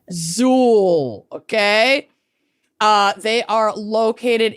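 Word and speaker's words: Xul: Zuul beer XU L but pronounced Zuul like with a Z. Don't get it wrong. They're really adamant about it on the homepage of their website. It's Zuul.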